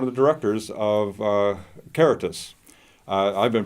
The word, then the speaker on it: Caritas: and he's one of the directors of uh karatus i've been pronouncing it wrong as uh karitos but uh anyway he helped me uh to